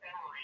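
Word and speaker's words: Emory: Yeah, and then my last name is Emery. It's spelled E-M-O-R-Y, so it's a little different.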